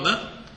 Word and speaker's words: Nunn: Aí a partida entre 2 jogadores super famosos, John Nunn, ou Nunn, como pronunciamos aqui no Brasil, e o Viktor Korchnoi.